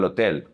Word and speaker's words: hotel: al hotel, we don't say al hotel, the h is silent, so you don't say al hotel either. So, al hotel.